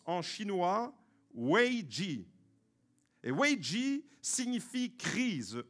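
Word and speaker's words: 危机: à voir avec le coronavirus ce mot se prononce en chinois wei ji et hu ji signifie crise en chinois mais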